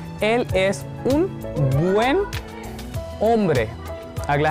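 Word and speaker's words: hombre: एल एस उन बुएन ओम्ब्रे, अब यहाँ पे होम्ब्रे नहीं बोलेंगे, एच साइलेंट होता है ना। एल एस उन बुएन ओम्ब्रे।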